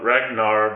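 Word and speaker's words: Rhaegar: the episodes that John is the product of Ragnar believe is how you say his name which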